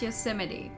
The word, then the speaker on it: Yosemite: think of arches in the grand canyon and yosemite and that kind of thing it's pronounced yosemite okay thanks so i think a lot of